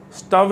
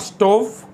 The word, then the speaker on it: stove: Stove is nothing but the gas burner which we use in our kitchen. So it's not stove, it's stove.